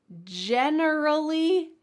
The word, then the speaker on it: generally: The next category of difficult pairs are words that include an extra syllable. And if you forget that extra syllable, it might be a new word. So let's start with the first pair. Generally, genuinely.